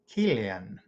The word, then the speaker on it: Kjellén: And Rudolf Kjellén, and that's spelled Kjellen. Some people will use a soft K, but you get the idea.